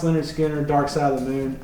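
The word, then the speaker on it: Lynyrd Skynyrd: holy by led zeppelin leonard skinner pronounced leonard skinner dark side of the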